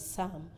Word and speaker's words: psalm: m the word is Psalm you will agree with me that the letter P in that word is not pronounced so your ability to